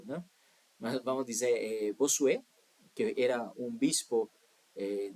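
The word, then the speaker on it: Bossuet: Jain, Jack Benin, Bosué ou Bosué, não sei como pronunciar essas coisas, né? Então, Bossué, vou vou dizer Bossué, né? se escreve B O S U E T eh mas é uma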